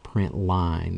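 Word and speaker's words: println: let me mention that even though we pronounce it print line it's spelled p r i n t Ln now you'll notice that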